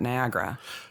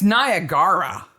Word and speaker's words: Niagara: as I have lived I didn't know that there was an extra syllable in Niagara what did you think it was it's Niagara no it's Niagara yeah it's not Americans say Niagara it's gra at the end but g-a-r-a Niagara we have visited the fall I've been there and I didn't notice it was Niagara a do yourself a favor